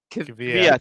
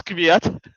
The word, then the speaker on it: Kvyat: I don't know how to pronounce his name. Kvyat. Kvyat.